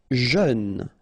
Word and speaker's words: jeune: Jeune. Final E not pronounced, but then EU together, jeune.